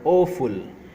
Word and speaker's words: awful: Now word quiz, identify the silent letter in the word awful. Answer is B, U.